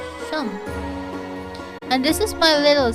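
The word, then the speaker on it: Seam: Oh, the name's Sim, pronounced Shum. So, Shum.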